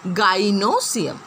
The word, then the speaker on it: gynoecium: Remember the pronunciation. Androecium and gynoecium are the reproductive parts of the flower.